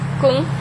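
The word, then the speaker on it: !Kung: it you know the Kung it's actually pronounced Kung it's a explanation point And then the Kung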